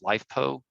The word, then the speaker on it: LiFePO: And LFP is sometimes pronounced as LiFePO, which stands for lithium iron phosphate.